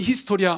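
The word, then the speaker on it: ἱστορία: 예 그리스 어의 그 히스토리아 라는 말에서 유리합니다 2 스토리 아라는 이 앤젤 헬라어 로드 그리스어로 쓰여진 얘긴데 발음은 히스토리아 맞습니다 2 히스토리아 의원 으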